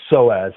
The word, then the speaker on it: psoas: I cannot pronounce it. It starts with a P again. What was that word again? The psoas muscle.